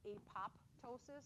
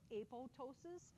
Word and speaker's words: apoptosis: It looks like it's apoptosis, but the second P is silent. It's called apoptosis, and that's where the